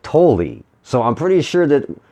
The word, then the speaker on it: Tolle: him, and when they introduced him, they said Tolle. So I'm pretty sure that in that case, they're saying it the right way. So I think it's pronounced Tolle, Eckhart Tolle.